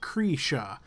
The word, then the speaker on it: Cretia: Yeah, sorry to clarify, it's pronounced Cretia. I always get that one wrong with the I.